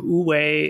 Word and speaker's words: wu wei: terms i think we'll need to know so ooway is w-u-w-e-i okay and then duh is just